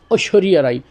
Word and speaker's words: ঐশ্বরিয়া রায়: তো ঐশ্বরিয়া রায় আমরা সাধারণত বাংলায় পড়ছি ওই, তারপরে তালিবা শয়ে বয়ে যুক্ত, তারপর রসিকার রি 29 আকার ঐশ্বরিয়া, কিন্তু মূলত উচ্চারণটা কিন্তু এরকম হবে না। উচ্চারণটা হবে ঐশ্বরিয়া রায়। ঐশ্বরিয়া রায়। ঐশ ঐশ ঐশ্বরিয়া রায়। এই র যেগুলো আছে সবকটা কিন্তু এই ডয়শূন্য র হবে, ঠিক আছে? একটু খেয়াল করে শুনবেন। ঐশ্বরিয়া রায়। আমারটা বসতে অসুবিধা হলে সাইকেলটা আবার একটু শোনেন। ঐশ্বরিয়া রায়। এইভাবে উচ্চারণ করবেন।